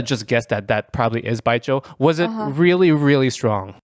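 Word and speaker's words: 白酒: What are your thoughts on baijiu? I don't remember after I drank it. Yeah, it's very potent stuff. How do you pronounce it again? Baijiu.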